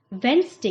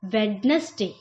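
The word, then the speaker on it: Wednesday: turn hotspot इस painting वेनसडे स है इसका हमने कई बार सुना है लोगों को कहते वैन से की जगह क्या बोलते हैं वेडनेसडे वेडनेसडे लेकिन इसका सही है मैं इसको गलत तरीके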